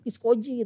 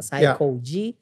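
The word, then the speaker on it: Saykoji: Karena dia ngebaca literal, ini namanya Piskoji gitu, pisang kolak. Oke, gue pikir gimana caranya supaya yang udah tahu tetap nyebutnya sama, Psycho G. Tapi buat yang pertama kali baca langsung tahu bacanya Psycho G.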